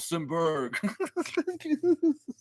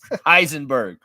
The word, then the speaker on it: Heisenberg: name say my name say my name help helenberg is that what his name is helenberg or whatever what was his name I forget uh Breaking Bad Heisenberg Heisenberg yeah yeah yeah yeah like like how